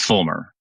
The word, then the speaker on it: Feulmer: correctly for me sure my name is Fulmer yeah the E is the E is silent there okay and you work